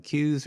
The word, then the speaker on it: CUES: my first ride using Shimano Q's or Shimano Quest depending on how you want to pronounce it one of the issues